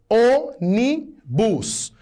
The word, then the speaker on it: ônibus: Ônibus, onibus. Estou diante de uma proparoxítona. É a antepenúltima sílaba que é a tônica.